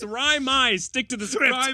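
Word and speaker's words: Raimi: raai uh ryy ryy it rhymes with liy it's Ry my stick to the script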